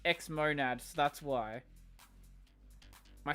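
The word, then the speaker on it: xmonad: True, but X-monad is pronounced X-monad, so that's why.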